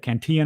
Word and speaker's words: Cantillon: I always say it wrong. The Cantillon effect, the Cantillon effect, where No, the Cantillon effect, you said it right.